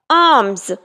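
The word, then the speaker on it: alms: मौजूदा मेरा कल खैरात आर्म्स यहां पर एल साइलेंट होगा मिशनरी मिशनरी का शिकार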